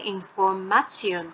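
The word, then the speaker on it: Information: ইনফরমেশয়ন এই যে ইনফরমেশন ইনফরমেশন এর জায়গায় উচ্চারণটা হবে ইনফরমেশয়ন তো একইভাবে আমরা যদি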